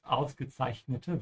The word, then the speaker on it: ausgezeichnete: Ja, be careful with the end of here, the E needs to be pronounced. Ausgezeichnete Wahl.